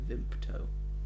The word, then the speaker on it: Vimto: It's spelt Vimto, but no one says Vimto. They say Vimpto. Vimto. They put a P in.